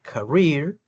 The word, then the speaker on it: career: Y el iato aquí de la palabra career le causó dificultad. Aprendí pronunciarla eh career doble e suena como una i.